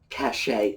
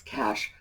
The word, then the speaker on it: cache: which is sometimes pronounced cash a as well that's not the correct pronunciation the correct pronunciation is cash just like the money in your pocket and that is a